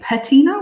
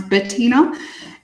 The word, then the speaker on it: Bettina: with the two T's or they will say patina with a like a PA but mine's Bettina and yeah there's not